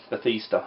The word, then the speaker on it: Bethesda: Yeah, Bethesda is how you pronounce it.